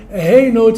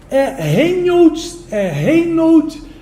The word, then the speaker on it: Reinhold: Tá, sim, é um nome de origem alemã, Reinhold, que seria a pronúncia correta, né? Mas acho que nem minha mãe me chamava. Rapaz, dá trabalho. Pronúncia, mas acabou ficando Reinhold, né? Então todo mundo chama de Reinhold.